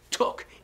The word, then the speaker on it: took: Now, fijaos, no he dicho took place. He dicho took, no ooh, took.